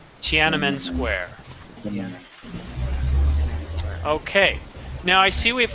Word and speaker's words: Tiananmen Square: It's pronounced Tiananmen Square. Tiananmen Square.